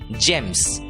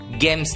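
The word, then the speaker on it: gems: वाली है और इसलिए शब्द का उच्चारण होगा जी एमएस जेम्स गेम्स नहीं जेम्स अगला सब्जेक्ट हैं शब्द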